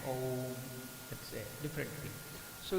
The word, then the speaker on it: Om: So while pronouncing, some people also pronounce it as Aum, they will do it. It is not necessary to do like that, just you can chant Om, that's a different thing.